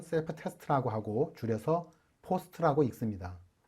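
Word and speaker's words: POST: 이 과정을 파워 온 셀프 테스트라고 하고 줄여서 포스트라고 읽습니다.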